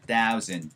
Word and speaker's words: thousand: 사우전드가 아니고 thousand 사운드. thousand, thousand, thousand.